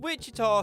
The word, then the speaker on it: Wichita: Little Rock because she's little, and Wichita sounds like the word witch, and she's kind of a mean girl, so it fits?